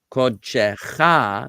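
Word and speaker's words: קודשך: This kamatz is a kamatz katan, and it's pronounced O. It's a replacement for this vowel in the construct form.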